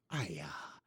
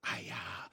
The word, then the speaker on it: Aia: They never say it, but I'm going to say Aya. It's spelled AIA.